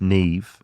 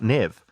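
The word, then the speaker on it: Neve: lot of feedback about how I said Neeve not Nev yeah remember N Campbell and someone reminded me that former prime minister jender ad's daughter is called Neeve and it's pronounced Neeve not Nev so I think what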